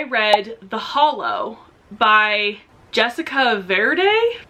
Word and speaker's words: Verde: For the general challenge, I read The Hollow by Jessica Verde. It sounds like I'm saying green in Spanish really white, but that's not how it's spelled.